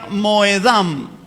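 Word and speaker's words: מוֹעֲדָם: aquí se pronuncia Moedí, y esta palabra última de acá se pronuncia Moedam.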